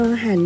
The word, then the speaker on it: รร: รอ ห่าน นะ คะ รอ เรือ 2 ตัว เขียน ติด กัน อ่าน ว่า รอ หัน นะ คะ นัก เรียน